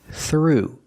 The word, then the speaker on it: through: Pronunciation through. Use the voiceless th sound plus the r sound together. Th through.